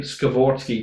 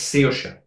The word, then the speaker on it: Saoirse: They were closer to saying Skavorsky than they were the actual name. It's- something mental. It's Saoirse.